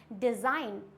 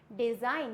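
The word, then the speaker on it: design: है हमारा जी तो जी साइलेंट कब होता है एन से पहले आया जी हमेशा साइलेंट होता है अगर एन है और उससे जस्ट पहले क्या है जी है तो जी हो जाएगा silent for example it's डिजाइन क्या होता है ये डिजाइन यहां पे जी होता है साइलेंट जिसकी वजह से बहुत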